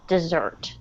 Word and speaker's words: desert: now between desert and desert so the word desert the word desert the emphasis is on the first syllable okay so the stress is on the first syllable desert okay and if you